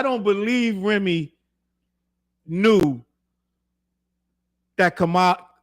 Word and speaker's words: Kamala: I'm going to say, I don't believe Remi knew that Kamala, I'm saying her name wrong. It's Kamala. It's Kamala, right?